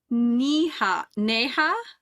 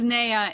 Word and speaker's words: Neha: So it is Neha. Yeah, either. Okay, thank you. She was Naya in my head this whole time. I skipped the H altogether. But so Neha and Joe meet in an interrogation cell.